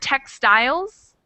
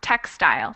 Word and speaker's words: textile: only got two syllables do you know which syllable has stress Tex stle I think the first one yeah it's the first one textile textile exactly Joseline next word wait